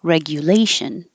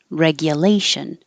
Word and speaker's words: regulation: decentralized finances this one you can say the GU like you like you or Gia like yeah because it's not stressed so this way regulation and this one regulation you won't hear a